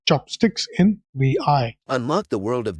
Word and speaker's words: vi: this chapter will'll delve into V pronounced as VI I'm pronouncing it incorrectly so it is VI a fundamental program in the Unix tradition Pi